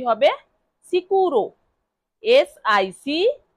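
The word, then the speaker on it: sicuro: সিকুরো।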